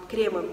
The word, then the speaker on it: кремы: Кремы, наверное, все-таки будет правильно, кремы.